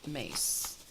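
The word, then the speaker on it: Myss: Although her name is spelled M-Y-S-S, it is pronounced Mace.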